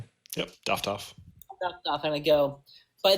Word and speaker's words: Doftohff: And I look at Doftohff, is that how you pronounce it? Yep, Doftohff.